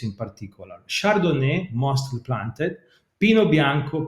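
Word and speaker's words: Pinot Bianco: particular chardonnay mostly planted pino bianco pinot neiro i'm using the italian pronunciation because yes pinot noir came from elsewhere but was adapted in the local soil so when a grape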